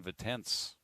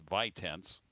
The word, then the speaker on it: Vitense: of their reserves in it's vitense kind of zane vitens that's kind of how you pronounce that and saying we'll